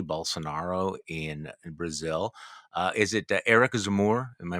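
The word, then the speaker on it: Éric Zemmour: Is it Eric Zemmour? Am I pronouncing that correctly?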